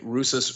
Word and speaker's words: Rousas: You need to check out the book, The One and the Many by Rusas Rushdoony. Okay, I'm gonna write that down. How do you spell that?